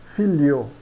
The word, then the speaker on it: figlio: O gli e o gle são pronunciados como li ou lie. Por exemplo, aglio, pronunciamos alio, alio. Figlio, pronunciamos filio, filio.